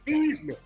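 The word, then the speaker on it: Theismann: I wore my Joe Thman jersey. No, no. People don't understand the original the original pronunciation. His name is Thesman. They changed the to rhyme with Heisman.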